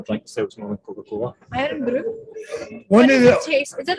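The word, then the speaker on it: Irn Bru: Iron Brew.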